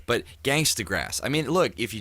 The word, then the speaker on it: Gangstagrass: talent the we are we're called gangsta grass not gangsta cross because that's the way simon sort of pronounced it and we get a lot of people coming are you guys gangsta gross no no it's gang yes thanks to grass well that's good to know